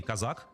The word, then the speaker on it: Козак: И Казак, это вот правильное, кстати, ударение, я всегда думал, что он Козак, но на самом деле надо было проверить, действительно Казак, поскольку сейчас про него много говорят.